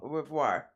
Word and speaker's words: au revoir: Au revoir.